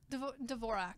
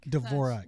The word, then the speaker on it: Dvorak: Dvorak. Dvorak. It's the American version of it.